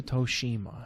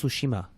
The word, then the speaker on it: Tsushima: it was goes to toshima no it's it's tsushima what sushima soshima su is that's how you pronounce it tsu oh tsu sushi like you're like you're saying a tissue but you have about